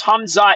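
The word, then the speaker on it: Khamzat: The K is uh, silent, bro. It's pronounced Hamza just like it's Hhabib.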